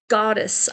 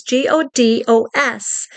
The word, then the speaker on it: Godos: Her name is Elena Goddess. I think that's how you pronounce her name. If I pronounced it incorrectly, please forgive me. It's Elena, and then her last name is Godos.